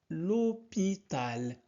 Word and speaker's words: l'hôpital: après Meryam va à l'hôpital. L'hôpital, on ne prononce pas H en français.